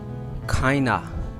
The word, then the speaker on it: kind of: Kinda. This word in the real pronunciation is kinda.